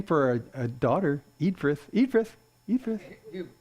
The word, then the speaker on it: Eadfrith: Nice name for a daughter, Eadfrith. Eadfrith. It's Edfrith. Edfrith? Yeah. You think so? I'll take the A is silent.